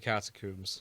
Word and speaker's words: catacomb: Catacomb to rhyme with tomb because they are both tombs.